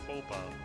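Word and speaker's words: faux: that even sibling would worry about such social foba yeah by the way it's not pronounced Fox it's pronounced fo the x is completely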